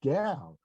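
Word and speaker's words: Gaal: by asthma g-a-a-l and they pronounce it gal which is fine with me and they make it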